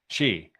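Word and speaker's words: Xi: I want to say Z. I know it's not it's not pronounced Z, but it's spelled Z. She.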